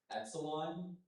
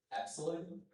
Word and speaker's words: epsilon: Of course, epsilon is the main pronunciation. I'll also give you epsilon.